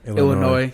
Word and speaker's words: Illinois: And so we arrived down in Illinois at Clark Cummings' place. It was actually a really big deal, man. It was... Yo, only East Coasters say Illinois. What do they normally say? Illinois. Yeah, the correct pronunciation is Illinois.